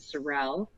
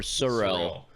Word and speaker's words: Sorel: And they own Prana and Sorel, so my boots now are rocking. Okay, time out. Is that the correct pronunciation? Sorel? Sorel? Sorel. I always thought it was Sorrel. It's not Sorrel.